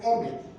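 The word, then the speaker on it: אמת: Y en el hebreo se escribe Emet, o se pronuncia Emet, no sé cómo se escribe, porque no sé escribir hebreo, se escribe al revés, ¿no?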